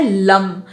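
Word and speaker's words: लं: इसका प्रोनाउंसिएशन है लम। English में इसको बोलते हैं LUM।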